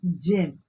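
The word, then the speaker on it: gem: तो इसको क्या पढ़ेंगे हम? जेम, जी ई एम, जे। क्योंकि जी के बाद क्या है? ई है, तो इसका प्रोनाउंसिएशन क्या होगा? जे, जेम। एंड ग, इसका प्रोनाउंसिएशन होगा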